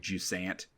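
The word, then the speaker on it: Jusant: this game and how you as the French taker Pro pronouncing this game and I just wanted to an know you and always pronounce it like ju Sant oh yeah play some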